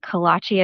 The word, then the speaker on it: kolache: Kalachi is spelled K O L A C H E just like it sounds.